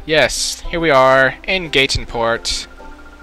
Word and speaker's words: Gateon Port: now I'm going to gateon Port I'm thinking it's gateon Port that's what look that's what it's spelled like gon port and yes here we are in Gaton Port it's the sea it's